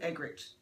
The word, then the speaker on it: Eggerichs: How do you pronounce it? Eggerichs.